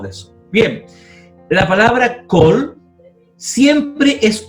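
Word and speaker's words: כל: Si está la palabra kol, siempre es una O, nunca una A.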